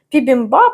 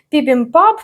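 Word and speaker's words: 비빔밥: там чотири рази використовується ця буква П або б і якщо подивитися на українську Вікіпедію основний варіант пібімбаб але також є пібімпап пібімпап бібімбаб бібімбаб або пібімбаб є різниця між тим що я оце повимовляла не дуже І от в корейській за цим принципом і взяли просто одну букву на два звуки в результаті я До речі зупинилася на пібімбап Але мені здається можливо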